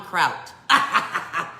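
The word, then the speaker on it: Croûte: It looks like route with a C. Brie en Croute. But it's Croute, okay?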